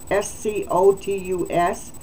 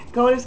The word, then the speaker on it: SCOTUS: And that SCOTUS is S-C-O-T-U-S, SCOTUS, or SCOTUS? SCOTUS. SCOTUS. Okay, whatever you would like, you pronounce it your way. Oh my goodness. I'm going to say SCOTUS. But that would have a U after the O to the T, right?